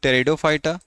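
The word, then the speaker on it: Pteridophyta: तो उसको कहते हैं हम लोग टेरिडोफाइटा। पी से लिखा है हमने। लेकिन इसे हम टी से पढ़ेंगे क्योंकि जो यहां पर पी है वो साइलेंट है।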